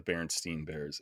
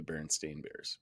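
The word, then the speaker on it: Berenstain Bears: know man could be but I swear I read the baron Steen bears as a kid instead of the baron stain bears but guess that's not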